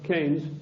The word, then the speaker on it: Keynes: or Keynes he said Keynes was a better word because it arrived with it rhymes with brains and this is a